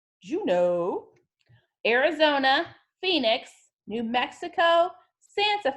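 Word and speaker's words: Juneau: Lake City Colorado Denver Hawaii Honolulu Alaska is pronounced Juno Juno Arizona Phoenix New Mexico Santa Fe did we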